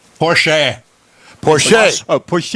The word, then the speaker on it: Porsche: I met him said Porche Porche oh Porche it's Austrian and that's how they pronounce that final e it's sort of like